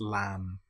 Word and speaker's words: lamb: Here we don't pronounce the B. We don't say lamb. It's just lamb or comb.